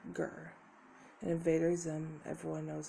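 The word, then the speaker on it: GIR: say the mascot is Gurr from Invader Zim. I've been looking into that, and it's a good show. It's spelled G-I-R, Gurr.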